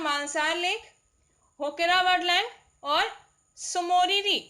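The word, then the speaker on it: Tso Moriri: ठीक है, जम्मू कश्मीर के 4 हैं, वुलर झील, सुइंसार मानसार लेक, होकेरा वर्डलैंड और सोमोरिरी लेक, ये टी साइलेंट रहता है.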